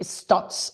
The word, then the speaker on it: Stutz: Hablábamos de eh Stots. Stots es una película que también está en Netflix. Se escribe stutz.